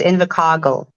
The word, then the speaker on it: Invercargill: Invercargill. Invercargill. Yeah, kasi yung R, kasi roll yung R sa South Island. That's why it's Invercargill.